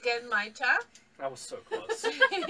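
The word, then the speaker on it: genmaicha: what tea are we trying now it's actually pronounced genmaita that was so close again in my chat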